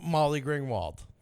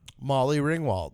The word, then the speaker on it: Molly Ringwald: But anyway, she was Molly Gringwald.